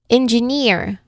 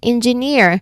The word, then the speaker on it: engineer: We stress on the final syllable, meaning we stress on the on the suffix itself. Okay? So for example, we have engineer. again engineer like e in the